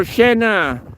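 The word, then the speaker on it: tjena: twice hey uh or Shena Shena would be a slang version of hello or you know if you go to work and you see your colleagues like shenna it's it's t j n a Shena they like to put two consonants together and then make it silent but uh it's if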